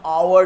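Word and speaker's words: hour: लेकिन देखो ये वर्ड आवर को जब हम उच्चारण करते हैं तो हम हावर नहीं कहते हैं, हम आवर कहते हैं.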